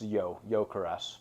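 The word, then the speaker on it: Gyökeres: How's it pronounced? Yeah, it's Gyokeres.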